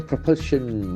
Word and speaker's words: propulsion: Vikram lander does separate from propulsion module. Propulsion, P-R-O-P-U-L-S-I-O-N. So that's a beautiful noun. Propulsion. Propulsion, a force that pushes something forward. Propulsion. Propulsion. The accent falls the second syllable.